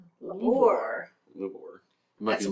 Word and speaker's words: Lubor: It is spelled L-U-B-O-R. Lubor.